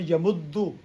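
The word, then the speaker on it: يَمُدُّ: In order to, because to ease in the pronunciation. Yamdudu and yamuddu is easier.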